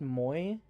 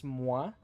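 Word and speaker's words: Moi: It's not pronounced moy. It's mwa. It's a French word.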